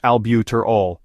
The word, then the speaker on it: albuterol: severe hypotension albuterol also known as ventolin is pronounced albuterol it is a bronco dilator used for Asma